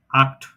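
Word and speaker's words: acht: হবে খ এর মত যেমন আক্ট আই এর এই যে আ এর পরে সি এইচ আছে এজন্য আ খ ট আক্ট উচ্চারণও আক্ট আক্ট মানে এইট আচ্ছা আ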